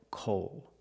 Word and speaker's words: coal: else we call it coal this is coal pronunciation the long o co when it connects to the dark L at the end the long o changes a little bit listen coal Coal it's